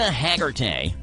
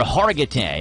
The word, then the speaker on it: Hargitay: Mariska Hargitay, or Hargitay, I guess is how you say it.